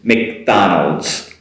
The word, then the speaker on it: McDonald's: And everyone's favorite fast food place, McDonald's. Short Mc in the beginning, Donald's. McDonald's. McDonald's.